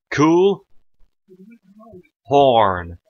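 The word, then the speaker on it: Chuhlhorne: Cool. Horn. Now, hold on. How the hell do you get cool out of C-H-U-H? Because a CH is pronounced like a K, folks, and UH is a double O.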